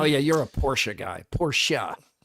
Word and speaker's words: Porsche: Porsche. It's how you pronounce it.